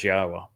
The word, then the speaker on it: Yahowah: pronounce Yahwa's name but to prove that the pronunciation of his name as Yahwa is accurate and reintroduce you to your God.